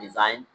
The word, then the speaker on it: design: In sign and design, G is silent.